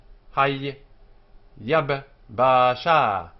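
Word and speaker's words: היבשה: Hay Yab Basha, Hay Yab Basha, the dry land. 4 syllables, 2 sharp ones which are closed and 2 open ones. So Hay Yab Basha, closed, closed, open, open.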